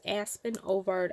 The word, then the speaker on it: Aspen Ovard: I think I said her name wrong earlier. On the, it's Aspen Ovard.